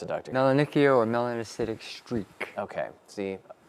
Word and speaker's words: Melanonychia: Those dark streaks, I believe they are pronounced melanonica. How do you pronounce it, doctor? Melanonychia or melanocytic streak.